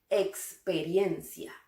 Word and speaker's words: experiencia: Experiencia. La fuerza de voz recae en la sílaba IRIEN. Experiencia.